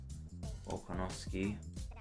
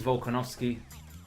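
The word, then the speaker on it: Volkanovski: actually the character model oh i didn't say it properly alright you miss it all right so this is volkanovsky on my days bro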